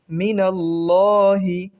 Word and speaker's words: মিনাল্লাহি: মিনাল্লাহি, আল্লাহ শব্দের আগে জবর থাকায় ল উচ্চারণ হবে।